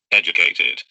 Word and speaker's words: educated: Educated. Educated. Because the last one is T, sounds like educated.